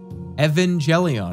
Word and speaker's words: Evangelion: j e l l y e o n Evangelion I'm saying it correctly that's their name bulb